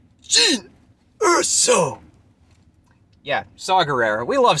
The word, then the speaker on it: Jyn Erso: Mara Jade, Darth Zana, Jyn Erso, or Pardon me. I don't think I pronounced that last one properly. I believe it's supposed to be Jin Urso.